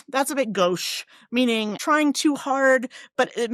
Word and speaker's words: gauche: So this great vowel here, it's like our O, gauche, meaning actually, since we